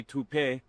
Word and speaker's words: Taupe: Uh, maybe toupe. Could be toupe. Yeah, I don't know. Or taupe insurance. Maybe. I don't think so. Say it right. That's to o p. That's taupe.